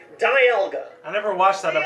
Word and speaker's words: Dialga: It's like the word dial. And since this is the legendary Pokemon of time, it's perfect. Like a time dial. Diamond for the hard mineral from the game. Dial for time. Dialga.